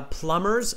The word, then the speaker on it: plumbers: you do it uh plumbers silent b okay plumbers no b that's why i forgot to write it so silent b okay plumbers no b no b sound okay all right uh